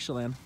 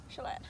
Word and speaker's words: Chelan: And of course I pronounced it wrong, but you know, it's fine. No, you said it right. Lake Chelan. Chelan.